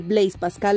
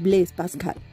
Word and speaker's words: Blaise Pascal: Y por último, estamos acostumbrados a decir Blaise Pascal, lo cual es un error porque el nombre es francés. Su pronunciación correcta es Blaise Pascal.